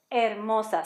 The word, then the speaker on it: hermosa: That says hermosa. So we're pretty much going to hide that H and pronounce the rest of the stuff.